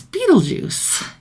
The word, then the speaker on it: Beetlejuice: advertisements for they have no idea how to pronounce the name but it's Beetle Juice and they quickly figure out that if you